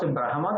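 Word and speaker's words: ब्रह्म: Some people pronounce Brahma, that is wrong. Brahma. Okay, Brahmana. Brahma Sotra. So Ma has to come to be pronounced. That means although we in script write Ha and Ma, while pronouncing, reverse will be the case generally. That is better understood. You are not saying Hama, but Ma plus Ha, such kind of sound is there.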